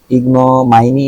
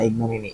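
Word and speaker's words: ignominy: উচ্চারণটা দেখে নিব ইগনমিনি এটা হল আক্ষরিক বা লিটারাল উচ্চারণ ইগনমাইনি না ইগনমিনি ইগনমিনিস রাইট অপমান কলঙ্ক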